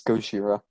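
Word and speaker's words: ゴジラ: It is Gojira. That's Yes. The official Japanese pronunciation.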